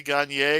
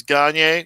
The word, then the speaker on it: Gaynier: I've always pronounced it Gagne. I'm trying to change it to Gagne because that's the version that sounds more like winning.